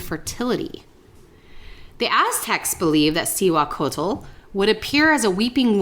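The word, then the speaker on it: Cihuacōātl: And I looked up the pronunciation because I wanted to make sure it was right because it didn't look like that when her name was there. But it's Cihuacotl.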